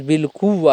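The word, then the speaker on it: بالقوّہ: صحیح تلفظ بالقوہ ہے، صحیح واو کی تجدید کے ساتھ ہے، بالقوہ نہیں ہے، بالقوہ.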